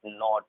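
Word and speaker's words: knit: एन से before जब भी के होगा, एन से बिफोर जब भी के होगा 100% के साइलेंट होगा। जैसे इसे हम पढ़ेंगे नाइट, नाइट, नॉट, knowledge, no, knee, knock, नीट।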